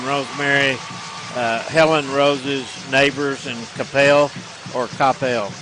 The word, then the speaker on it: Coppell: Yeah, Flash Gordon and Rosemary, Helen Rose's neighbors, and Capel or Coppell. How do you say that? Coppell.